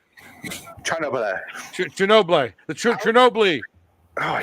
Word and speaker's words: Chernobyl: Well, what's funny about Chernobyl was it came out the week after Game of Thrones ended.